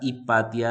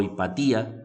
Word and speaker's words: Hipatia: hubo a esta señora Hipatia de Alejandría, ¿sí? O Hipatía, algunos la pronuncian de diferente forma, y como que todo